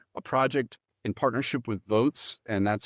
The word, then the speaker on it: Voatz: And so we put together a project in partnership with Votes, and that's spelled VOATZ.